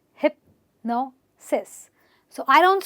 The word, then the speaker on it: hypnosis: So it's actually got 3 syllables and it's hypnosis. So I don't stress on hip, I don't stress on this. I stress on the syllable before the SIS, and I say hypnosis, hypnosis, osmosis, hypnosis.